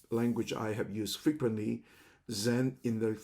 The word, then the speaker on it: Zen: Even the language of Zen is basically used from the Japanese pronunciation of the Chinese sound of Chen, and in Cantonese called Sim.